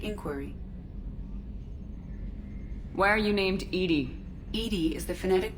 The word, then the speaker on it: EDI: have a specific inquiry why are you named Edie Ed is the phonetic pronunciation of Eed that is an acronym for